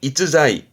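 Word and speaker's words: 逸材: 발음은 이자이 이자이 일제라 하면요 일자가 다할 일자기도 하고 편안할 일자기도 하지만 우리 가장 많이 접하는 부분은 일품이다.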